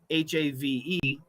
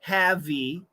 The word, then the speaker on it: have: we say the word have h-a-v-e the E is silent there's no e pronunciation we don't say heavy and we don't say have that we don't we say have the sound ends with v okay um so you